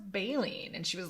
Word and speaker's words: baleen: whales in school and whales had balling and i said i think it's pronounced baleen and she was like